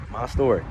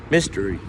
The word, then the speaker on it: Mystory: it's all one word my story is also pronounced mystery so you can say my story mix or you could say mystery mix you know i'll say